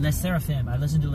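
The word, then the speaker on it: LE SSERAFIM: to Le supery super how do you pronounce the Le L seraphim L seraphim I listen to L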